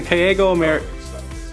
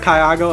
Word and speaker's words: CAYAGO: We're here in Kaygo. I said it wrong immediately. We're here at Kyago Americas Incorporated.